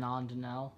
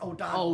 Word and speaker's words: O'Donnell: Aiden Ondinell. Yes, O'Donnell. O'Donnell, yeah. That's his name, yeah. I pronounced it Ondinell for so long because it looks like Ondinell.